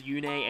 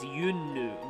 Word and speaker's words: Yune: Something I forgot to say earlier is that Veronica Taylor actually mispronounces Yune as Yun in her Heroes dialogue, but that's actually how it's pronounced in the Japanese version. If you listen to the Japanese version of the first cutscene, she says Yunnu, not Yune. So, I don't know, maybe this game's pronunciation was the one that was wrong.